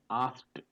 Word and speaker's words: asked: is being pronounced as asked. AST. Asked in British, I asked him, and in American, I asked him. So asked. T is there. K and E both are silent, and T is being pronounced.